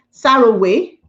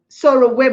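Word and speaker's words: Sowore: I've forgotten how they pronounce his name. Saraway. Soroway. My husband said it's Soroway.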